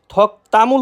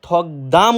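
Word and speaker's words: 덕담을: থকতামুল হাদা থকতামুল হাদা হ্যাঁ ভাই থকতামুল উচ্চারিত হবে থকদাম উচ্চারিত হবে না থকতামুল হাদা মানে আশীর্বাদ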